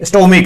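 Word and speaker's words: stomach: जैसे स्टोमिक है, स्टोमिक है, यहां पर सी एच का कै उच्चारण क्या निकला है? कै, तो हमें क्या करना पड़ेगा?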